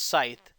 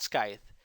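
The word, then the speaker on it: scythe: I am aware that the word is pronounced site not sky a--the no there isn't a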